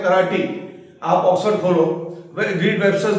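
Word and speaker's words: karate: इसका प्रोनाउंसिएशन है कराटी नॉट कराटे कराटी dictionary का सबूत है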